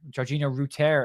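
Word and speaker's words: Georginio Rutter: talk about uh router Georgina Rooter is how it's pronounced currently uh Georgina Rooter and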